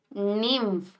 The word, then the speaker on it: nymph: that structure is called Nim how will you pronounce Nim and how will you spell it n y m p h right so this baby